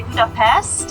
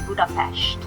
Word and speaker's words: Budapest: And the first very important thing is to learn how we pronounce the name of the city, because we don't say Budapest in Hungarian, we say Budapest.